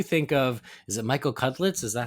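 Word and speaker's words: Cudlitz: what do you think of is it Michael cutlet is that how you say his name cudas yes Michael yeah how did you feel about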